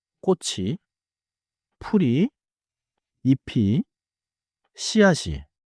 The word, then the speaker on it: 꽃이: The pronounciation connects smoothly. 꽃 plus e becomes 꽃이 꽃이 예뻐요.